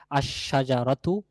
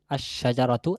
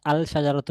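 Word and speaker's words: الشجرة: তাহলে সেক্ষেত্রে বলতে হবে আশশাজারতু আশশাজারতু আল না আলশাজারতু না আশশাজারাতু এখানে লামের উচ্চারণ আসবে না এই লামটাশিনের সাথে মিশে গিয়েশিনের উচ্চারণ হবে লামের এর কোন উচ্চারণ থাকবে না।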